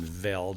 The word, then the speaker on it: Veld: Johann Zeitzman, in his book, Man, Cattle, and Veld, I think you're supposed to pronounce the V as an F, but that means grass.